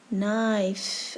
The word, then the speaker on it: knife: n space f space here be careful k is a silent letter okay write the missing letters down now check your answer knife and the last letter e so k is a silent letter we start reading from letter n knife now knife which picture